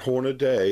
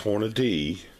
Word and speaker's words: Hornady: It's not Hornady, it's Hornady.